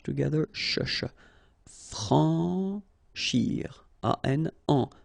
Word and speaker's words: franchir: Franchir. Remember, C and H together. Sh. Franchir. A-N, en. Franchir.